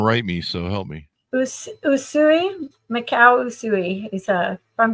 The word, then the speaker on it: Usui: thank you so much thank you am I pronouncing the US yusai people are gonna write me so help me Usui Macau usui is a from Japan oh really